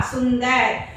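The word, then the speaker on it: सुंदर: See, su, in, da, ra, sundar.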